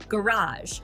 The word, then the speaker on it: garage: Garage. British, G-R-A-H-Z-H. American, G-A-Ridge. Say it like your favorite accent.